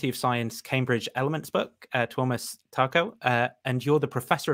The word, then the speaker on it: Tuomas: it's like is it like the scandinavian pronunciation of thomas or thomas that's that's